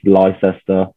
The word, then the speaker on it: Leicester: but it's near to leicester or how a lot of people like to pronounce it is lyster but somewhere you probably